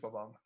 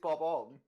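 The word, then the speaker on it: Bob-omb: It's like we, Screech Bob Omb.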